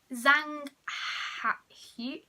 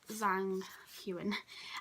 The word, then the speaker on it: Zhang Huan: We then have an artist research, which is, I think, Zhang Hu. I don't know how you say his name. Zhang Huan. Like, yeah, Zhang Huan.